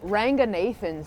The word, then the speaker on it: Ranganathan: the Sri Lankan pronunciation is Ranganathan. Okay. My parents are very worried about us assimilating into UK culture, so they taught us how to pronounce it with an English accent.